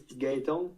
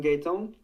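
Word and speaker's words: Gaëtan: In English, it's hard to pronounce, but in French, it's Gaetan.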